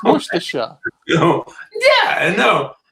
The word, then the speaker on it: Worcestershire: steve's more sort of you're missing the end of it off your sauce it's worcestershire yeah i know like